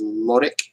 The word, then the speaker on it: Lorik: But the way that he likes to pronounce it is Lorik. You got to say it with like you're saying the with d. You're like saying it like Lordic.